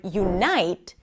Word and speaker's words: unite: In the word unite, the night is the primary stress. Notice what I'm doing with my voice. Unite, right? And the U is a secondary stress.